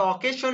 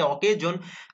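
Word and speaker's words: occasion: So introduction লিখবেন, তারপরে অকেজন, ঠিক আছে, অকেজন লিখলেন, এটা অকেশন আমরা উচ্চারণ করে থাকি অকেশন, বাট কারেক্ট প্রোনাউন্স আছে অকেজন।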